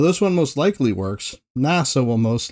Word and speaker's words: NASA: Though this one most likely works, NASA will most likely be spoken out as, well, NASA, instead of N-A-S-A.